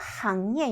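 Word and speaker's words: 行业: 상예, 상업이란 뜻, 요건 좀 안 어울릴 것 같고, 항예, 요거 싱이라고 읽지 않도록 주의해 주셔야겠죠.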